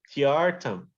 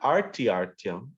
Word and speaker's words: tyartham: Tyartam. Not artyartyam, it's tyartam. There's no R before the T.